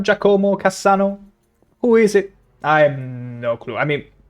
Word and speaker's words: Giacomo: pronunciation hurts my soul. Giacomo. No. Oh. Oh, that hurt. Oh, that hurt. It's Giacomo. Never say that again. Never say Giacomo again.